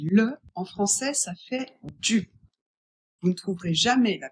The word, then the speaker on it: du: Celui-là se prononce du. Le U doit être prononcé u. Attention, de et le en français, ça fait du.